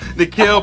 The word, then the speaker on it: Nikhil: Nikhil.